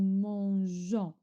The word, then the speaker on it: mangeons: Nous mangeons. Je rajoute le e pour la prononciation. Pour la prononciation parce que sans le e, je lis je lis mon gant.